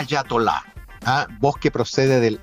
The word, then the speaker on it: ayatolá: A propósito de de lo que está pasando, eatolá o hayatola. En el último tiempo dice Fernando Sánchez que ha visto esta palabra escrita y pronunciada de estas dos maneras. ¿Cuál es la forma correcta? Pregunta. Claro. El diccionario prefiere a Yatolá.